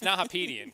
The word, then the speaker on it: Nahapedian: And it's Nahapedian, correct? Yes, Nahapedian.